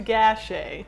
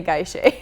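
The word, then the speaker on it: Gachet: is talking to doctor guy guy Shay I believe it is pronounced a gash a okay I wrote it GA I CAG so I keep wanting to say guy Shay oh right yeah yeah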